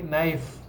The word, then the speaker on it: knife: un poco night live' sierra con la f ok one night live' pegas tu labio con tus dientes superiores y expulsa aire ok knife one life nike también